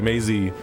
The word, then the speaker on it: Maisie: Maisie is like you have the syllables and the like how the Daisy, word crazy, lazy, Maisie.